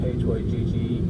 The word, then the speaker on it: hygge: I think that's how Ula told me to pronounce H-Y-G-G-E, hygge.